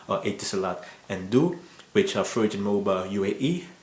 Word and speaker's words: du: i pronounce it correctly but it's just spelled as d and u do it's like part of my name ardu but then without a but anyway those are the